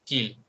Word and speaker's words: qu'il: Oh, qu'il. Which sounds like a key, but it's not, is it?